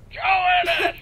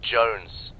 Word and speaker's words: Jones: it's almost christmas though johannes where the hell are you sir for the millionth time my name is pronounced jones jones shut up join us